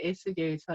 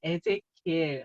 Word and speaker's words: 에스겔: 에스겔, 우리 한국말로는 에스겔이고요. 영어 조금 발음으로 하자면 뭐 에제키엘 뭐 이렇게 말하기도 합니다.